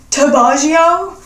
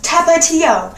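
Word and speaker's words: Tapatío: You mean Tabaggio? I'm like, what the fuck is Tabaggio? That's how you say it. I'm Mexican, I should know. Tabaggio? Excuse me, it's Tapatio.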